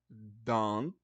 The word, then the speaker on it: don't: a mais comum ó don't learn English não pronuncia esse T ó you don't learn